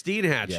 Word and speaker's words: Steinhatchee: Oh, it's Steinhatchee. Yeah, okay. So I want to make sure that again pronunciations.